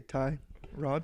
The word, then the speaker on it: Tyrod: It's got to be a vowel, right? 2 syllables. Tyrod. Tyrod.